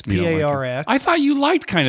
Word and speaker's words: Parx: It's just because in my head I see Parx and I think P-A-R-K-S. Yeah. And it's pronounced the same, correct?